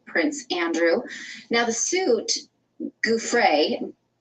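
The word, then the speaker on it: Giuffre: Gouffre.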